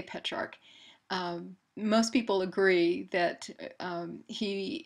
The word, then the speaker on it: Petrarch: And it's for that reason, too, that Petrarch, sometimes you'll hear his name pronounced as Petrarch. It's kind of tomato, but I say Petrarch.